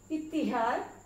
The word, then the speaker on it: इत्तिहाद: Number 6 इत्तिहाद, ते के नीचे जेर है, इत्तिहाद।